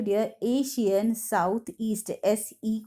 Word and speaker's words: ASEAN: Students confuse हो, तो यहाँ पे देखो ये एशियान है, ठीक है, एशियन मत इसे प्रोनाउंस करो, एशियान, दैट इज ASEAN।